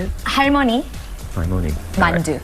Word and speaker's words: 만두: Mandu. Mandu.